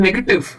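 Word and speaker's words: negative: ए टी आईवी ई तो ये जो वी ई आ जाता है उसमें काफी सारे लोग कंफ्यूज हो जाते हैं कि अब मैं ई को कैसे बोलू क्योंकि नेगेटिव तो व पे खत्म हो गया तो काफी लोग उसको बोल देते हैं नेगेटिव तो ये जो ई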